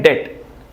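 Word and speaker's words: debt: यहां पर भी बी जो है साइलेंट है। लिखते हैं डेप्ट पर पढ़ते हैं डेप्ट।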